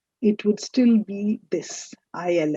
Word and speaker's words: il: Il, elle. These two words, they're pronounced as il / elle, meaning he or she.